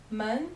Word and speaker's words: 们: 们 is a neutral tone. There is no tone on 们.